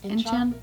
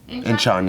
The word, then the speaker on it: Incheon: Incheon. Incheon, yeah.